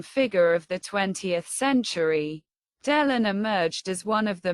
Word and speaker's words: Delon: The surname in French is pronounced closer to Delon.